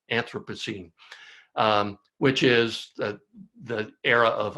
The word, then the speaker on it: Anthropocene: a new geological era, the era of the Anthropocene. I didn't pronounce that right, Anthropocene, which is the era of us, or the epoch of us.